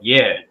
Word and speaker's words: yea: Yeah, ye took up the tabernacle of Moloch. Right, it's pronounced yay.